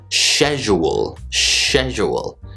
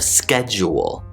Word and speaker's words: schedule: And I included schedule in the skit because a lot of British speakers will say schedule, instead of schedule. But apparently Flo pronounces it the same way that I do.